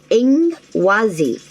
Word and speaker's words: Ingwaz: The second card you had for the ruin is pronounced Ingwazi, meaning earth and sacred.